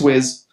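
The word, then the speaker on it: Wyss: with Amanda Wiz, and that is how she pronounces it. That's Tina from Nightmare on Elm Street. I called her Weiss because I thought Weiss just is a cool name, but it's Wiz.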